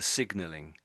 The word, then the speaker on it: signalling: especially with the extra sound, because you had to put an extra sound on the end. So you sort of turned the ng into a sort of an ng sound, but with a big sort of k sound on the end of it.